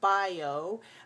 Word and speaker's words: bio: prefix we say o bio but when we say it in the word we change the o to uh the same as g